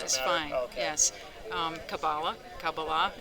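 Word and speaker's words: Kabbalah: I I've heard it pronounced Kabala, but is that actually correct? Yeah. No. No, that's fine. Okay. Kabala is fine. Yes. Um Kabala. Kabala. It's just where you put the accent on the word.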